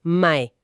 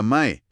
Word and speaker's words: mae: Y la primera palabra que cualquier visitante va a escuchar probablemente en los primeros 10 minutos tras salir del aeropuerto es mae. Mae. Se escribe M-A-E, ¿verdad?